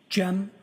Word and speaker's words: Cem: I also spell it uh with a G. GM. And could you tell us your name, sir? Jim.